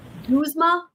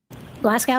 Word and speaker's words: Glasgow: Guzma Koma score. Listen. Glasgow. You mean Glasgow?